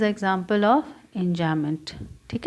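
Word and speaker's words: enjambment: यहाँ पर देखो इंजामेंट, स्पेलिंग लिख देती हूँ, ENJAMBEMENT। इसमें इंजामेंट बी साइलेंट रहता है।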